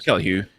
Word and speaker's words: Kelly Hu: Kelly Hu, I think that's how you pronounce her name. If not, I apologize. Yeah, it's Kelly Hu.